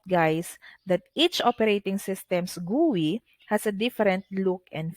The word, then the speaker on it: GUI: use a graphical user interface or gui or pronounced as gui okay so a graphical user interface or commonly